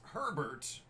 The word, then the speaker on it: Herbert: the next one is Herbert rhymes with sherbert it's 15 out of